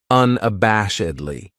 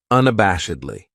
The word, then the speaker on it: unabashedly: then we have unabashedly this adverb has five syllables and the stress is on that third syllable that bash unabashedly that second syllable has that schah that uh sound unabashedly what it means is